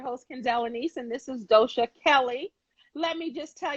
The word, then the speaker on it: Doshia: I just want to make sure, is it Doja or Doshia? Nope, it's Doshia. The I is silent. Dosha.